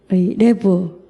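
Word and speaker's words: לב: 레브 마음은 생각이 있는 곳이죠. 이 마음은 결정하는 곳입니다. 또 믿음이 시작되는 자리가 레브 마음인데요. 이 히브리어에서 모음보다 중요한 게 자음이잖아요. 영어로 러브와 비슷한 발음이죠.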